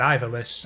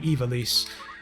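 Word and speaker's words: Ivalice: country of ivelisse and I used to pronounce it I villis until the new voice-acted games revealed the fact that yeah it's actually ivelisse okay so okay so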